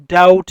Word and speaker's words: doubt: doubt ویل کیږي شک. په doubt کې بی نه تلفظ کیږي، بی سایلنٹ ده.